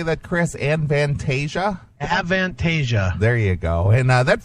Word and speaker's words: Avantasia: how do you say that Chris an vantasia avantasia there you go and that features the uh